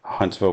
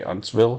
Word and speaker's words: Huntsville: Huntsville metropolitan area um I always hesitate when I say Huntsville because we have a town in Texas that is spelt maybe exactly the same but we say hunsville here which is weird um so I have to remember to say Huntsville but you can see